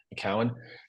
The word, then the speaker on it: McKeown: I think that's how you pronounce his name, McKeown.